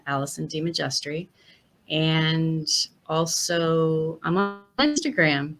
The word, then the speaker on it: DeMajistre: Did I get it right? DeMajistre. Close. DeMajistre. Just. Got it. Okay. I'm going to get it right. Jestry. Okay, DeMajistre.